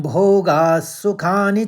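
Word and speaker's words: भोगाः: राज्यम भोगास सुखानी च भोगास विसर्ग में स का उच्चारण लेना है क्योंकि आगे वाला शब्द स से शुरू है तो दूसरे चरण में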